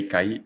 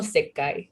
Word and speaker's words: Seikai: Lleva una I ahí, No es porque es Seikai, o sea, porque, o sea, yo lo pronuncio como Seikai, Seikai, no Seikai. Ajá, yo lo pronuncio como Sekai, pero es Seikai.